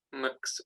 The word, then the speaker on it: Mx: titles you might see mx which can be pronounced mx mooks or mixter as a gender neutral alternative